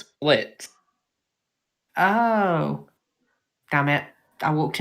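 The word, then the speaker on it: Blitzø: of a boss and you don't even say blitzer the o is silent it's split oh damn it i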